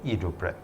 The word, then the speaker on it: idroprep: World's first hydrofoaming tamper called Hydroprep, pronounced in Italian, from the very same creator of the ESPAZZOLA group head cleaning tool.